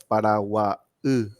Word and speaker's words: Paraguay: Asunción en guaraní es para y Paraguay es Paraguay. O sea, lo lees en guaraní. La y para nosotros es una consonante que se pronuncia e, ¿verdad? Es una expresión gutural que se hace, ¿verdad?